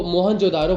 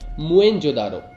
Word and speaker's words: मोहनजोदड़ो: हम बोलचाल की भाषा में तो मोहनजोदारो बोल देते हैं, मगर इस शब्द का असली मतलब बहुत कम लोगों को पता है। इसका सही प्रोनाउंसिएशन होता है मोएनजोदारो, यानी मरे हुए लोगों